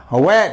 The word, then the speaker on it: were: They वर going, they वर reading, वर they reading. बहुत से बच्चे बोलते हो वेर, नो वर। This pronunciation is द वर।